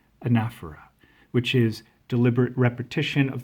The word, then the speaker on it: anaphora: And it exhibits this literary device called, how did you pronounce it? Right, anaphora, which is deliberate repetition of the first part of the sentence.